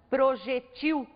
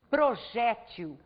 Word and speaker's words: projétil: É o caso, por exemplo, da palavra projétil, que também pode ser pronunciada projetil. O mais comum é chamar essa palavra ou pronunciá-la como se ela fosse uma palavra paroxítona, projétil.